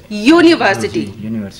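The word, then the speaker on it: university: वो इसलिए स्टार्ट कौन वॉवल से है मगर इसका प्रोनाउंसिएशन कैसे हो रहा है? य से, यूनिवर्सिटी, तो उसके आगे हमने लगाया ए।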